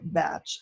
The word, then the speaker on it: Bach: And Edward Bach, now the English call it Batch, and I say the English can't speak German because we know how to pronounce Bach, but he was English,